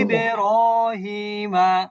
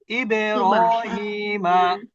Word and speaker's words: إبراهيم: সুবে ابن হানা, সুবে, ইবেরহিমা। বুঝতে পেরেছেন এবার সবাই? إبراهيم হ্যাঁ, এটা কিন্তু উপরের দিকে সাউন্ড দেওয়া যাবে না। ইবেনু, আবেদু, ابن ابن সুবহানা, سبحان ইবেরহিমা।